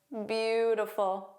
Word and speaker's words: beautiful: Where's the silent vowel? Well, you don't hear an e in it in the middle. So, it's that middle I. So, it sounds like three sounds. That middle sound becomes the unstressed schwah.